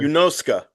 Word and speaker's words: Yunosuke: Yunosuka, by the way, that's how you pronounce that name. Ska, okay. When you have a Japanese name that ends Suke, Yeah, you don't draw it out like us Americans.